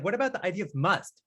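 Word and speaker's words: mast: something, You say must, M-U-S-T? It's like it's actually like when we write it, we say M-A-S-T, but it's but it is said like must.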